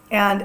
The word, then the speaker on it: he: Our H's are all silent.